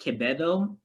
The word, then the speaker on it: Quevedo: um and also the v we don't really have that v sound in native filipino languages either so it would become a b so and if anyone